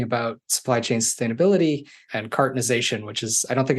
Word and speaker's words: cartonization: Obviously love talking about supply chain sustainability and cartonization, which is, I don't think I even said that word yet. That's the term for what we do. Cartonization. Not cartoonizing, cartonization.